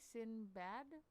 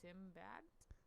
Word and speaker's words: Sinbad: the best the best am i saying about sin bad sinbad yes okay just because sometimes i have a problem with pronouncing stuff i i almost thought it was sim bad you mean like symbol